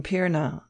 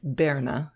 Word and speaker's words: Pirna: Daily Bread he said I am from pirna he pronounced it Berna speaking and around Saxon dialect and I tell you